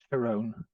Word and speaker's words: Tyrone: that he's from tyrone tyrone yeah thai no heavy on the eye all right so i